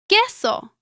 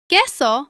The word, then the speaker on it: queso: The U is usually silent in combinations such as QUE and QUI. For example, queso. Queso means cheese.